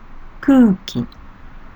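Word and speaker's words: くうき: Kuki, air, kuki. The first character, ku, with same vowel sound, u, is pronounced as long vowel sound, like ku.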